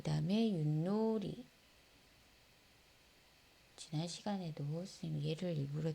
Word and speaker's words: 윷: 자, 어떻게 발음 납니까? 디귿으로 바뀌어서 나죠. 윷.